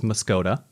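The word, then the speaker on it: Muscoda: Muscadet is definitely not pronounced the way it's spelled. I would definitely say that's Muscota.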